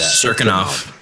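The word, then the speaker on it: Cirkunov: Serkinov. Misha Serkinov versus Ryan Spann.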